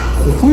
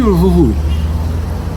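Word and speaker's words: Jujuy: мм интересно лучок мясо хухуй или жужуй как правильно говорить Хуй хухуй на местном жужуй переводит на русский но жужу - это неправильно вообще хухуй я думаю он из-за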